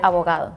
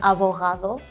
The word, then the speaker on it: abogado: Abogado. Abogado. I think it's quite similar, right? The H. Yeah, she has more the H sound, and you pronounce more the G.